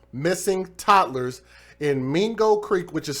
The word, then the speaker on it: Mingo: now working to recover 2 missing toddlers in Mingo Creek, which is spelled M-I-N-G-O, Mingo Creek.